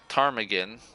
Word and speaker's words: ptarmigan: with nothing then tarm ptarmigan I'm assuming the P is silent then the ptarmigan spoke